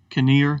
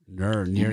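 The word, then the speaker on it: Knehr: facing the rookie reese caneer i think that's how you pronounce it uh he's only pitching isn't it no near usually the k is silent i heard the padre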